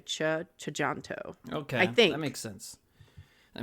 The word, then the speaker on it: Tjahjanto: I think it's the the TJ is like a cha chanto okay that makes sense